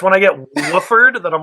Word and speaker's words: Wolford: It's Wolford. Yeah, like the wolf. Yeah. Wolford. Wolf and Ford, right? Like Wolford. No, Wolf and Ord. There's only one F.